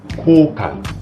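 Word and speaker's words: 交換: 주시는게 빨라요 라인 코카스 하이픈 표시는 좀 길게 발음해 주시면 되고요 코칸 코를 좀 길게 발음하는 거예요 코카 라인 코카스 그리고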